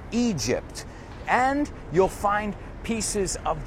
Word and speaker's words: Egypt: In fact, inside this building, you'll find pieces of the Taj Mahal, the pyramids, cuidado con la pronunciación, pyramids of Egypt. No es Egypt, it's Egypt.